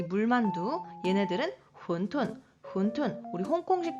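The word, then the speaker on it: 馄饨: 이 물만두, 얘네들은 혼툰, 우리 홍콩식 발음으로는 완탕이라고도 하죠.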